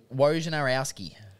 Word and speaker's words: Wojnarowski: Out of interest, Zach, how would you pronounce Woj's surname? Wojnarowski.